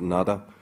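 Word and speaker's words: Nuada: In the earliest settlers of Ireland, in the very primordial times, the High King, whose name can be pronounced in a variety of ways, we pronounce it Nada, his sword, you know,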